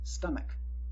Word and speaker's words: stomach: In some words, CH can be pronounced like K. Stomach, not stomach. A word pronounced stomach does not exist, but would be pluralized as stomaches. But it does not exist. Our word is pronounced stomach, a K sound.